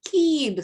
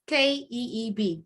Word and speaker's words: Keeb: it's in life grad he's pronounced Keith sorry it's k-e-e-b keeb all right qualities Grace